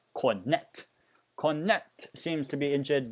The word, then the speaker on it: Cornet: Ooh, seems like there's an injury here for, I mean, I know in French it's Cornet, but just because it's spelled in a way, it's Cornet.